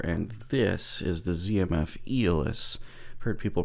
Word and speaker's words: Aeolus: Metal571 here, and this is the ZMF Aeolus. I've heard people pronounce it lots of different ways, but from a little bit of Googling, that's apparently the actual pronunciation.